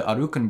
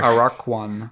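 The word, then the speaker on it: Aracuan: And then this character named the Arukan Bird... It's not Woody Woodpecker. Araquan. Araquan. They pronounce it the Arukan Bird. Arukan? It's A-R-A-C-U-A-N.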